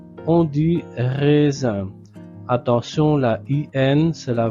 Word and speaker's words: raisins: Ce sont des raisins.